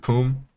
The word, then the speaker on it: Pume: Yeah, so it's Tenacity, Minwi, Pume, and Chitong. So their top laners, Tenacity, bot laners, Minwi. I don't know how to pronounce that. Okay. Pume is their support. Yeah, Poom gang. Is it Poom? Yeah.